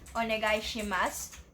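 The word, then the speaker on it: お願いします: Again, you may notice another vowel devoicing at onegaishimasu. So try to silence the letter U.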